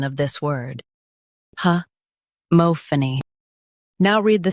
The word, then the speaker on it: homophony: Today, we will learn how to pronounce the word shown on the screen. Huh mo-pha-ny Both US and UK have the same pronunciation of this word. Huh mo-pha-ny Now read the syllables shown on the screen naturally.